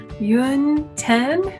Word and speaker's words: Yönten: hi it's yun 10 you can say my name yoon 10 yun rhymes with moon 10 like the number 10 or you could call